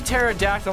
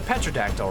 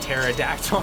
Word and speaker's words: pterodactyl: I hate phonetics like I see pterodactyl like it's a petao right cuz there's a p there and like no it sounds like then why even put it in the word there there's